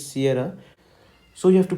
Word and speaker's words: Sierra: a i r okay you have to emphasize on this a i r then r a h basically it's Sierra so you have to pronounce the letter s in phonotics as Sierra Sierra Sierra okay so